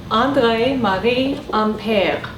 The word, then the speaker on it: André-Marie Ampère: So let's have my wife pronounce that name. André-Marie Ampère.